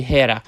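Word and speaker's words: Héra: i told her we were stuck it's actually hera i get a quick pronunciation lesson and discover the air functions uh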